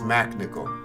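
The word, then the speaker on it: MacNicol: yeah he is oh he spells it weird yeah oh yeah and I had to do yeah he's got that silent h no no it's Mac nickel is it yeah oh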